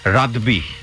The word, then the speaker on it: রাদবি: রাব্বি রেজার, আসলে তো ওনার নাম রাব্বি রেজা না, এটা আমরা কিন্তু ভুল করে উচ্চারণ করি। অনেকেই দেখলেন ফেসবুকে অনেকেই এটা নিয়ে আমাকে গালমন্দ করেছে, রাদবি, RADBI, রাদবি।